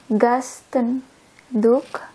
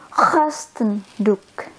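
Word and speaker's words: gastendoek: In the toilet, if you find towel to clean your hand, the name is Gasten Duk, but I pronounce it with wrong G. it should be Kostenduk.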